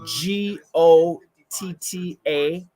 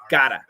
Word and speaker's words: gotta: of a flap T your tongue touches once to give us that almost a D sound so that's how you